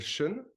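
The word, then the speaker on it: 神: conscience de cette esprit qu'on appelle Sean en chinois ça s'écrit Shen la conscience qui va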